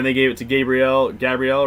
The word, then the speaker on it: Gabriel: the season then they gave it to gabrielle gabrielle right that's how you say his name and